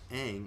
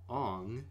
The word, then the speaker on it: Aang: all that this movie stars Noah Ringer as Aang or as movie likes to call him Ong I don't know why yeah they like rearrange